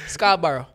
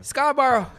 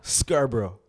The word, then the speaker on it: Scarborough: somehow said this wrong then Scarborough oh that's very wrong try one more time Scarborough Scarborough Scarborough look at Scarborough